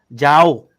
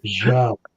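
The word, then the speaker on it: João: Joao. Yes, thank you. Carry on. But sorry, continue. It's Joao.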